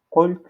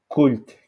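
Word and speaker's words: قلت: Il peut aussi mettre q, qult, mais ça, on peut essayer, on prononce ça cult, cult.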